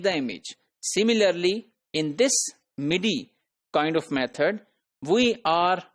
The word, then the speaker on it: MIDI: So then there is an alternative method known as MIDI, which is pronounced as MIDI.